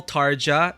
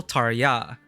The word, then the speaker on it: Tarja: sometimes so I noticed some people call tarja tarja some people tarya so you know that's